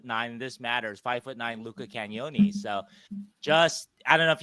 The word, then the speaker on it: Cagnoni: I was taught how to say it last week. Cagnoni, yeah. Cagnoni, thank you. It's like cannoli, yeah.